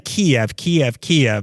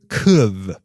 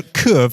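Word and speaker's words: Kyiv: So we were saying Kiev, the city in Ukraine. But that's the Russian pronunciation. And to choose the right side, you want to pronounce it the Ukrainian way, which I still can't get. He said it for me. It's something like kuv.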